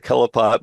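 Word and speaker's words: Qliphoth: Some people pronounce it the Kelopot, but I know it as the Clippeth, Qlyppoth or whatever.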